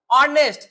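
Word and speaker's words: honest: जो हमारा बोलने का उच्चारण वर्ड क्या आ रहा है? ऑनेस्ट। क्या आ रहा है? ऑनेस्ट। तो जो पहला वर्ड आता है अ। क्या आ रहा है? अ।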